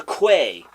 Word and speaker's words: quay: I don't remember what the excuse was, but Out into the slush, and then out along the quay, which it turns out to be pronounced key.